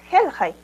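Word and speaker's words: hilhay: ¿Y por qué si es Hilhai, la pronunciación es Helhai?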